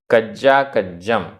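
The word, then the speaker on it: कज्जाकज्जं: देखिए गाथा क्रमांक 17 उच्चारण लोभ लोभ य य वदे आधा ड ढ वदे वदे पुण पुण कज्जा कज्जम आधा ज पूरा ज दोनों बार कज्जा कज्जम कज्जा कज्जम नरो नरो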